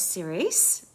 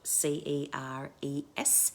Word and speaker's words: Ceres: And just remember that you can also call in the goddess Ceres. Ceres. Her name is spelled Ceres, Ceres, and she's the goddess of the harvest,